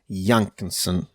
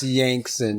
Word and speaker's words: Yankson: Yankinson. Am I saying it right? No, you're not. Yankson. It's just Yankson, like Yankson. son of a Yank.